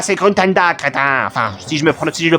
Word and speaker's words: Gruntilda: C'est pas Grunkaka, c'est Gruntanda, crétin.